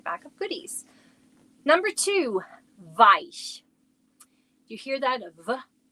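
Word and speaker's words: weich: Number two, vice. Do you hear that VV? How we pronounce our W's? Like a V.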